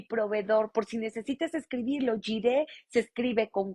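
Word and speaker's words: Jireh: en el Antiguo Testamento se reveló como Jehová jiré el señor es mi proveedor por si necesitas escribirlo jire se escribe con j y latina r e de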